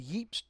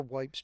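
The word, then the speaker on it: Ypres: been useful someplace else the yep's detachment has been destroyed or wipes depending on what country you're from is how that's pronounced there's a uh summary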